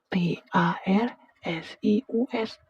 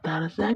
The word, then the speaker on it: tarsius: Awalnya aku kira itu editan, ternyata beneran ada namanya T A R S I U S. Tarsius. Bukan tarsiusan, bukan Tarsiuswati, bukan juga bacanya Tarzan ya.